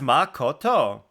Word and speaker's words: Makoto: it helps yeah CU in Japanese there's no such thing as having stress on vowels so like that's why